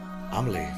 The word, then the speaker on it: Amelie: Amelie, that's how you pronounce it.